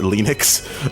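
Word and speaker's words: Linux: like my name is lenus and I pronounced it lenux uh and that's the map oh wait what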